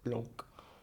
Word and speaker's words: Blanc: I recently did a video watching Miraculous Ladybug's highest rated episode, Chat Blanc. Why did I go so French? I mean, it's how you say it, but Blanc.